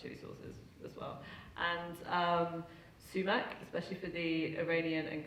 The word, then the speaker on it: sumac: And sumac, especially for the Iranian and Kurdish and Iraqi populations, there was always this little girl who'd be like, because also they'd often pronounce it as smack.